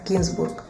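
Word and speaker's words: Гінзбург: познайомилася на французькій манер його прізвище вимовляється з наголосом на останній склад та й взагалі Серж змінив деякі літери у своєму прізвищі для того щоб саме французи могли його вимовити в оригіналі його прізвище взагалі то має єврейське походження і звучить як кінбург неймовірно але факт цей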